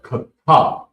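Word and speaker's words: חיטה: And the next word is wheat, and it's pronounced kata, and it's very important that you say it with it.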